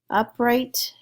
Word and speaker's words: upright: something that's really unusual upright up is the accented part of it up right can be